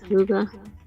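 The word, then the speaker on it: hygge: It's h Y g. I cannot say it. Oh, right. Yeah. Wait, hold on. I think it's like huga. Huga. Yeah, you're right.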